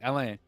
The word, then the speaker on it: Alain: We got Alan chiming in. Alain, sorry, I will pronounce it properly. Alain, I just joined.